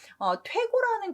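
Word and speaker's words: 推敲: 그래서 시문을 지을 때 글자 바꾸는 작업을 그때부터 퇴고 작업이라고 우리가 부르고 있거든요. 원래는 추인데 여기서는 퇴자 발음을 하는 거죠.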